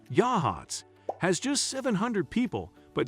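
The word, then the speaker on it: Yachats: Yachts, pronounced Yahhatz, has just 700 people, but sits next to two of Oregon's most famous natural wonders.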